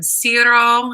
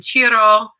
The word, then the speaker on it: Ciro: We're going to name him Ciro. It's probably actually pronounced in Italian Ciro, but this is our little baby boy.